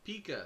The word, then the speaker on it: pica: Is it Pica? Pika. Pica. Got it.